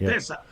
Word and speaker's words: UTESA: Utesa. Yeah. And so it kind of pronounced Utesa and abbreviate.